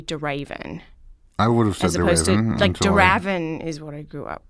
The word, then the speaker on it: de Ravin: I don't know where even a lot of Americans say de Ravin I would have liked davon revin so it's not Robin either me neither all right cuz neither you